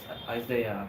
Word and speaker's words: Isaiah: Is it Isaiah or Isaiah? I found out it's Isaiah actually.